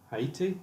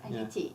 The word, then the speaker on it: Haiti: Haiti? Yes, yeah, Haiti. Yeah. Yes, with obviously you pronounce the H. Yeah, yeah, Haiti, yeah.